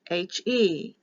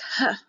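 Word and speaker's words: ה: letter is for h h e it's h e or it can be h-e-h notice this there's an opening here on the left side this is pronounced ha or he it has the breath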